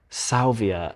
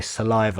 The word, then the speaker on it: Salvia: the color it's yeah pronounced Salvia it's really hard for me not to say saliva I want to say saliva every time Salvia is like Sage